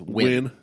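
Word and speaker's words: Nguyen: It's just Xi, but it's it's like it's like pronouncing uh N guen is win in I call it I call it inan. No, it's win.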